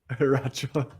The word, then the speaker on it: Eriacho: Eriacho. So you don't say the I, Eriacho? Yeah, the I is silent.